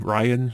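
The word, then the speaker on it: Rian: Ryan? It's like Ryan, except with an I instead of a Y.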